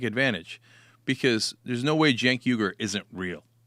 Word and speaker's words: Cenk: You're going to keep the name Jenk Huger." And and the Jenk is spelled with a C in the beginning.